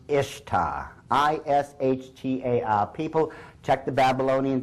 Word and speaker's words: Ishtar: Now, a lot of people think it's pronounced Ishtar, I-S-H-T-A-R.